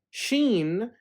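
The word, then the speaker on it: ش: to the letter s sheen is equivalent to the cumber to the combination of s and h as in she she now seen and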